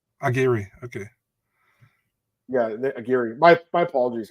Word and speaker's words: Aguirre: So how do you pronounce it? Yeah, Aguirre. Aguirre, okay.